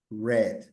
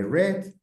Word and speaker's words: read: sería run run run presente read pasado read se escribe como read pero se lee read presente sí pasado